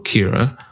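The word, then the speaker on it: Ciara: I believe that you and please tell me if I'm pronouncing their name wrong, Kira. Yeah, that's right.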